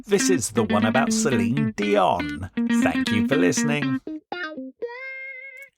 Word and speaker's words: Celine: It's Celine Dion. Yeah, no, it's not even that, is it? It's Celine Dion. Celine Dion. Yeah, she says that you don't pronounce the N.